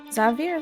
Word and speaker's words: Xavier: going to try and bite zavier that's how pronounce his name Xavier Xavier okay hold